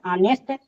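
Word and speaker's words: honest: तो आने से देखिए भले ही एच से शुरू आया है लेकिन इसका क्या साउंड होता है तो ये साइलेंट होता है यहां अवेल का साउंड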